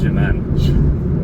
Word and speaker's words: Germein: It's pronounced Germain. Like there was a treaty of Saint-Germain.